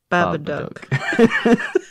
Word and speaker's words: Babadook: Babadook. I'm going to have to do it every time. Look, Duck. Book. Duck. It rhymes with book.